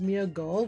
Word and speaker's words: Smeargle: Even though it's pronounced Smeargle with a G or that with like the LE at the end, for some reason Smeargle